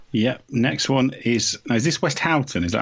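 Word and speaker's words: Westhoughton: Next one is this West Houghton? Is that how you pronounce it? West Houghton? West Horton.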